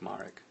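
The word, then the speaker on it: Marek: Now, my name is pronounced for those of you who are curious. And that's like the totally Americanized version. It's a Polish name. So, uh, in Polish it's pronounced Marik, but either way, I don't really mind.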